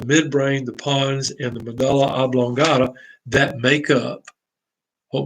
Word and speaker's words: medulla: then you see the medulla oblongata now your book's going to say pronounce it medulla but d-u-l-l-d-u-l-l you go to duel parties or do you go to dull parties anyway if however you